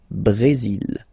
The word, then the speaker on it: Brésil: Okay, you will pronounce the final L here. And then remember, accent aigu goes like E. Brésil.